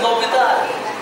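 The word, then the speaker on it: L'Hôpital: Okay, it is pronounced as L'Hopital. How do you pronounce it? L'Hopital. L'Hopital.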